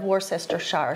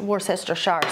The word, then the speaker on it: Worcestershire: I'm going to do about a teaspoon of Worcestershire sauce, and that's not how you say it. We're using a plant-based Worcestershire sauce, so it doesn't have the anchovies in it.